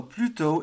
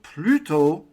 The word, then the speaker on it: plutôt: So plutôt is all one word, and it's spelt in French P-L-U-T-O, accent circonflexe, T.